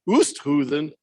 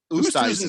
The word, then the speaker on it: Oosthuizen: Oosthuizen. Oosthuizen sounds like a noise I make sometimes getting out of a chair. Oosthuizen.